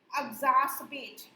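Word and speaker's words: exacerbate: इसका प्रोनाउंसिएशन है एग्जास्पेट।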